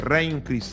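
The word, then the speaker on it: Regnum Christi: Teve um trabalho com militares, trabalho com universidade, trabalho de religiosos, opus day, re Christ, a pronúncia é ron Christ.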